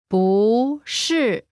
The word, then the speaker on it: 不是: Here, am not 不是 Pronunciation note, when 不 is followed by a fourth tone, its tone changes from the fourth tone to the second tone.